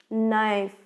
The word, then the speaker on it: knife: So not, K is a silent letter. Knife, in this word also K is a silent letter.